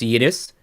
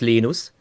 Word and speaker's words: Linus: where he said, well, if he speaks Swedish, it's Linus. If he speaks Finnish, it's Linus. But if he speaks American, but when he speaks English, it's Linus. American.